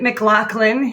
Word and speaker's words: McLaughlin: We pronounce it Mclaclin even though it looks different.